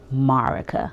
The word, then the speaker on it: Marica: I really think it should be Mondays because my name is Marica. Also, if you're new here, that's my name, that's how you pronounce it. Marica.